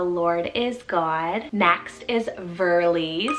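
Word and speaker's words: Verlie: name meaning the lord is god next is verly's spell v-e-r-l-i-e verly so fun means beaver stream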